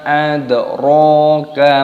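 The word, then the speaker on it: أَدْرَاكَ: Wa ma adraka ma hiya. Wa ma adraka ma hiya. Mimnya dibaca mad jaiz munfasil, dipanjangkan 5 ketukan dan di sini dalnya berharokat sukun, maka dipantulkan suaranya, dibaca adro, ronya dibaca panjang, adro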